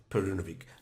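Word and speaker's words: Perunović: always difficult to pronounce some of the uh East European names, but I checked the pronunciation before starting the video and it is in fact Midosh Perunovik, not to be confused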